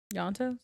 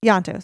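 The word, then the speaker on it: Ianto: Yantos. Yantos. Sorry. I keep picturing the eye as well.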